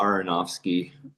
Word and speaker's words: Aronofsky: Can you remind me how to pronounce the director's last name? Aronofsky? Yeah, Aronofsky, I think is right.